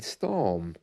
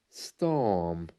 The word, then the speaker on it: storm: gone and not only there but also in storm storm you don't hear the are at all isn't